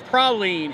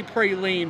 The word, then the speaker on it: praline: and also you know people say praline a lot it's praline here and i know in other parts in certain places they say they say pray lean but in louisiana make sure you say pralines i definitely say praline